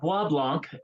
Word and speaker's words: Bois Blanc: it from here first let's start off by pronouncing this correctly because I don't want to try that yeah it's a ba Blanc Canada uh there is actually